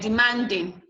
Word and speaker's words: demanding: goes to the ing, like demanding, demanding. So the man will be stressed.